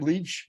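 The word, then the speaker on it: Leitch: David over here David how do you say his last name leech leech I believe yeah David Leach knew what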